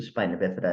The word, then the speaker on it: spina bifida: I don't know if it's spina bifida.